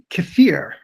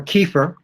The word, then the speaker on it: kefir: So kefir is or kefir. I don't know, how do you like to pronounce it, kefir or kefir? Both. I say kefir, but it's used both. It's fine.